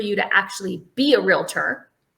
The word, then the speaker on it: realtor: to actually be a realtor. Realtor. Yeah. 2 syllables, by the way. Correct. Not realtor.